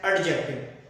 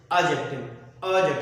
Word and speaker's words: adjective: People say it's an adjective, but it's wrong pronunciation. The correct pronunciation of this word is adjective. Here D is silent and the correct word is adjective.